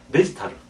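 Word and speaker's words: デジタル: 우리는 이제 디지털이라고 그러는데 일본 사람들 데지타르. 이렇게 되어 있습니다.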